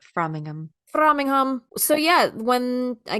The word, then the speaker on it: Framingham: But yeah, so It's pronounced Framingham.